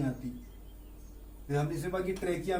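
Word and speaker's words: trachea: फिर हमने इसे बाकी ट्रेकिया में एच साइलेंट है।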